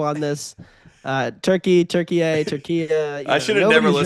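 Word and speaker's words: Türkiye: Uh, Thursday Turkeye as we now properly pronounce have to call it that? So, I actually think it's Turkiye. Turkiye, okay, sorry.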